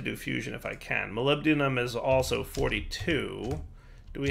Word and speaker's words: molybdenum: So then if we look at molybdenum, that's how you pronounce it, molybdenum, you can break down polonium, acetate, or bismuth.